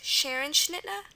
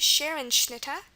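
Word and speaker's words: Scherenschnitte: the I bill dunks Roman another example is Sharon schnit Sharon sh Sharon s c h e r n s h n i t t e this is pronounced Sharon schnit and um we'll learn when we do the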